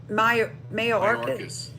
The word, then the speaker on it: Mayorkas: Mayorkas.